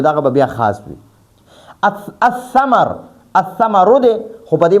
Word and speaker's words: الثمر: یو بله خبره دی کې واورئ، البیتو کې به مونږ دا لام باندې تلفظ هم کو، ال به وایو، ال. او الثمرو کې به دا لام نه وایو، دا حمزه به ډایرکټ د ثا سره میلاوه.